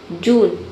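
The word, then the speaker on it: June: जून जे का ज हो गया। यू का हो गया उ। एन का हो गया न। ई साइलेंट है क्योंकि वर्ड के अंत में आया है।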